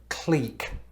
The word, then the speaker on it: clique: that we're being cliquish listen to that this i mean look at the way it's spelled do you see ck in that no i mean we